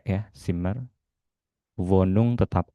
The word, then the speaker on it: Wohnung: W dibaca V. Vum. Ya, jadi W tidak dibaca W. Kalau masih terdengar W masih salah dibacanya V.